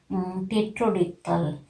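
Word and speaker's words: pterodactyl: of any words that together letter P comes together with letter N and letter T, in that case also P's sound is silent, we are not pronouncing, like tetrodictyl, pneumatic, pneumonia.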